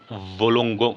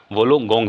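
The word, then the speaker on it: Wollongong: गया तो इसका हो जाएगा डिकन विश्वविद्यालय और वोलोंगों माफ़ करिए वोलोंगोंग विश्वविद्यालय। ठीक है? थोड़ा सा उच्चारण 19-20 हो जाता है।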